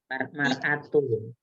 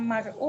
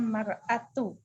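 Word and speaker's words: الْمَرْأَةُ: Mar'atunya ya, bukan mar'ahu ya. Mar'atu. Bukan mar'u, melainkan mar'atu.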